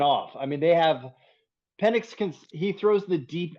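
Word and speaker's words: Penix: I think that um Pennix let's let's pronounce his name right. Pennix.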